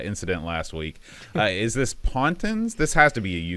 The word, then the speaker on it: Pontins: Is this Pontins? This has to be a UK thing, right? Pontins, yes, yeah.